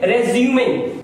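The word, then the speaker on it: résumé: अगर हम इसको नाउन की तरह यूज करेंगे बायोडेटा तो इसे हम पढ़ेंगे रेज्यूमिंग। अब ये वर्ब हो गया तो इसका प्रोनाउंसिएशन बदल गया रिज्यूम, और नाउन होगा तो रेज्यूमिंग।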